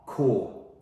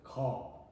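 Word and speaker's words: corps: Core. Core. No. Don't pronounce the P. C. No. Core.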